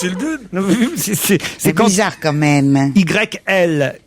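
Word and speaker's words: Yldune: Hildune, ça s'écrit Hildune, ça se prononce Hildune.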